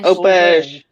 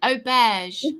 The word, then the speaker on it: auberge: I had asked auberge. How do you pronounce it? And what does it mean? Not aubergine, auberge. Auberge.